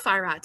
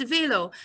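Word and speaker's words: Velo: ah German farat but in Swiss German it's not farat it's Veo so you've got to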